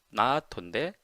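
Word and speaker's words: ないと: 그렇게 얘기하는 건데요 나토 요게 이제 좀 길게 얘기하거든요. 나 나토인데 나토 이런 식으로 거의 발음을 해요. 요게 거의 이제 나이라고 이제 이게 생략이 거의 되는듯한 어 느낌으로 이해를 해 주시면 돼요.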